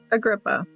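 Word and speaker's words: Agrippa: It'll give us the pronunciation. Oops, I had it muted. carried a gripper. A grippa.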